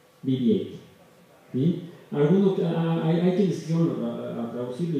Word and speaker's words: BB-8: Pronunciado en inglés, BB-8.